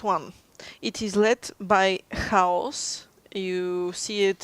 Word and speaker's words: Хаос: It is spelled with an X, A, O, and C. Yeah. Which in Bulgaria would be read as haos. Yes.